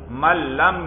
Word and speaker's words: من لم: من لم یعرف المنطقہ من لم, یہ نون جو ہے یہ بھی لام ہو جائے گا بھائی. من لم یعرف المنطقہ فلا ثقة